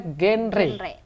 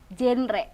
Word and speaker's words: GenRe: adalah generasi-generasi berikutnya berencana bacanya genre bukan genre karena kebanyakan orang Indonesia sebut genre adalah genre musik ya ya karena ini beda gen generasi re berencana spidol ya oke Jinggo